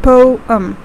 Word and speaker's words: poem: write the pronunciation here it's basically a two-syllable word that is po um okay so next time